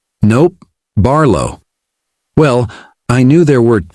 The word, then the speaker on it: Barlo: Your name's Harlon." "Nope. Barlo." "Well, I knew there were two syllables anyway.